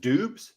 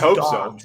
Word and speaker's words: Doubs: Allen Lazard at the top, but is it Doubs? Is that how that's pronounced? Doubs? I believe it is Dobbs, actually. Yeah, I think it's Dobbs.